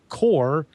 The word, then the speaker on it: QOR: axia makes for this line it's called the core 32 now that's spelled qor the core 32 and if you